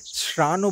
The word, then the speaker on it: Sarahan: রাজকীয় মাধ্যমিক পাঠশালা সারাহান, অবশ্য লোকালরা উচ্চারণে শ্রানও বলে থাকেন, তবে এই সারাহান কিন্তু